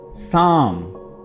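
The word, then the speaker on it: psalm: Spoon, साम, this word is साम। यहाँ पे दो अल्फ़ाबेट साइलेंट हैं, एक P और दूसरा L।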